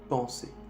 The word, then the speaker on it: penser: Esa palabra se dice penser.